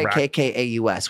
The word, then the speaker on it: Rakkaus: No, Rakkaus, which means love in Finnish, my native language. Oh, nice. Rackus. Oh. Rackus. So that's how you pronounce it.